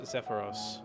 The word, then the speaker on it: Zephyros: Oh, it is pronounced Zephyros.